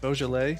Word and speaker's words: Beaujolais: good band name no no back hair and beaujolais yeah did i pronounce that right now yes you know i've